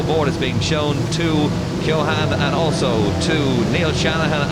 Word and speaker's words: Keohane: It's Keohane, of course, is how you pronounce his name correctly, and there he is on the front row of the grid.